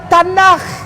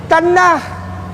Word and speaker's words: Tanakh: Dibacanya Tanakh. Tanakh.